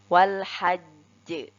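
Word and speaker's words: وَالْحَجّ: Wal hajj. Lalu kita bedakan dengan huruf jim ketika tidak bertasydid. Kita membacanya seperti wal hajj.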